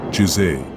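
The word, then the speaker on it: 自制: Pronounced, Jisei.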